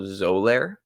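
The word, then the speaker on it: Xolair: a medication it's called zoler um spelled with an x uh love SP a solid X but sounds like a z spelling um but uh yeah so it's it's it's this medication called zolar and apparently it for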